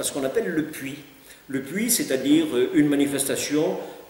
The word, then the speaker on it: Puy: Le puits, le mot s'écrit P-U-Y, n'est-ce pas?